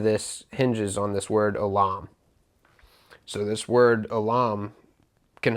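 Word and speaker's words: עולם: I'm going to pronounce it as Olam. It's spelled O-L-A-M. So Olam. And this is the word that is used to say everlasting or eternal.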